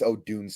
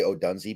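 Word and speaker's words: Odunze: profile of Odun oh by the way it's Odun I always say Odun because that's how it's spelled but it's Odun I yeah and um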